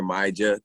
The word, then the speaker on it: Myjah: clear it up it's major major that jay is not silent i mean kind of